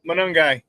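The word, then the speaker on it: Monangai: And then uh you know um uh Kyle, how do you pronounce his name? Kyle Miguel. Manungai.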